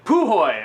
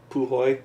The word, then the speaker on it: Puhoy: this is uh py is that how you pohoy okay least that's how I always say it like poohy all right po so